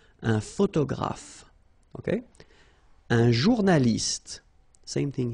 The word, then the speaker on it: photographe: So here ph and here ph. Pronounce it like f, f, f, f. Photographe. Okay. Same thing here. This you don't insist on it. You only pronounce this f at the end.